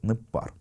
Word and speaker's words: ныббар: В первом же слое вы видите форму «непар», и вы видите различие между написанием и произношением. Пишется оно «ныббар», а читается «непар».